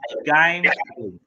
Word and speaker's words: gambling: Cái từ thứ hai mình có là từ gambling. Gambling. Chú ý ở đây nè, nó cũng là chữ A nhưng mà phát âm là chữ E.